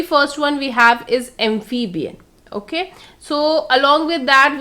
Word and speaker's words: amphibian: The very first one is amphibian. So we need to stress on the initial syllable, that is amphib. Okay, amphibian. So what are these animals?